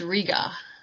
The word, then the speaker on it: Riga: a Riga Hayworth mystery that's are IgA Hayworth instead of Rita its Riga and yeah good on